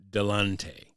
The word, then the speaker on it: Delonte: I also was a fan of his name, Delonte. Rhymes with Kanye.